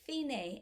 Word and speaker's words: fine: till you come to finae and fine sounds like finnish or in spanish it's fien the end that finney right here